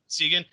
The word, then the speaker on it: Ziegen: Like you say the Z is like a TS sound, like it's Ziegen. Kessa.